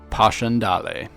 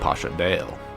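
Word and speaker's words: Passchendaele: at is Posh andal another map that I've been mispronouncing myself for a long time I used to call it Pash Andale you learn something new every day the Battle of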